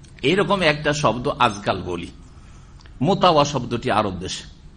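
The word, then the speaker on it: مطوع: মোতাওয়া শব্দ শুদ্ধভাবে উচ্চারণ করতে পারে না বাঙালিরা, কি করে দেয় মুতুয়া, কি করে দেয় ওটাকে, ওদের ভাষাটা বলেন তো বাঙালিদের, হ্যাঁ মতুয়া, হ্যাঁ মোতাওয়া বলতে পারেন না, কারণ শব্দটা হচ্ছে কি মোতাওয়া।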